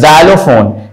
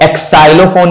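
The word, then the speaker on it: xylophone: यह जो है ना इसको हम कहते हैं जाइलोफोन इसको हम एक् साइलो फोन नहीं कहते बहुत से लोग कह देते हैं एक् साइलो फोन ब इट्स नॉट एक् साइलो इट्स जाइलोफोन तो ये ज आता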